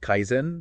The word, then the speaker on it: Kaizen: It's pronounced Kaizen, right?